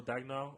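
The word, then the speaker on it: Daigneault: I actually don't know how to pronounce his last name. I'm so sorry, but Mark Dagnall. I'm so sorry, but Mark Dagnall, you got it right.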